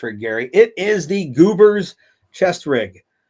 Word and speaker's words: GBRS: It is the Goobers chest rig. That is spelled GBRS. I pronounce it Goobers because that seems to be how you would pronounce those 4 letters together.